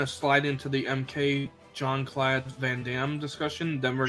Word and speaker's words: Jean-Claude: Jean-Claude.